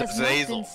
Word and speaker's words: Azazel: Okay, it's Azazel. Couldn't pronounce it.